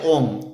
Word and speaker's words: homme: Homme begins with a silent H.